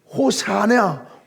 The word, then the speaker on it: 호산나: 오늘 우리가 호산나 다윗의 자손 오신 예수여 라고 부르는 호산나 뜻은 호사냐 이런 뜻이에요. 발음이 원 발음이 그렇습니다.